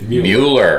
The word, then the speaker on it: Mueller: Is it Mueller or Mueller? Mueller. It's Mueller. Yeah. Just like the guy in trouble right now.